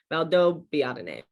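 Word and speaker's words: Valdobbiadene: so valdob biadine so you're pronouncing that b twice distinctly valdo biatane but that's not really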